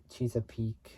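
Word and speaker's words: Chesapeake: P I can't really say it well but it's spelled c h e s a p e a k house and Maryland house along Interstate 95 in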